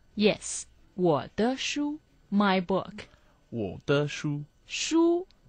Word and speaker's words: 书: 我的书书 means book, the first tone.